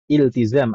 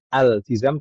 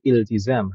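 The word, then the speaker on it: التزام: Wam ibu sekalinya k iltizam aslinya bukan altizam tapi iltizam hamzahnya Hamzah wasal kita baca langsung walzimum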